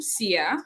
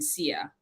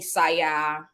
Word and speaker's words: Sia: course in sierra leone no one has a problem pronouncing sia but when i moved to the u.s i've had people i want to say mostly from african americans that will call me saya maybe just a few